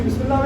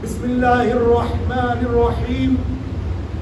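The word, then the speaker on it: بسم الله الرحمن الرحيم: रही ये कौन सी बिमला साब हा की तो आवाज क नजर ही नहीं आ रही इसम दो हा है दो हा बिस्मिल्ला रहमान रहीम दोन आपने साइलेंट गायब ही कर दिया आपने बिस्मिल्ला रहमान रहीम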